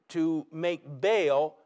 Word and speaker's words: Baal: what about this god baal baal b-a-a-l or in a hebrew pronunciation ba'al is the god of